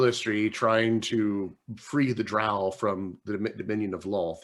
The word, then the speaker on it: drow: rhyme with pissed okay just like drow rhymes with cow not with roe drowl rhymes with cal